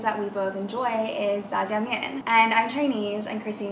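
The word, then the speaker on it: 炸酱面: It's ZhaJiangMian.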